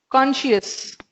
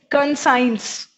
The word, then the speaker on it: conscience: ठीक है, this is नॉट कॉन्शियस. ठीक है, दिस इज कॉन्शियंस. बहुत सारे बच्चों को देखा है कि इसको प्रोनाउंस करते हैं कंसाइंस.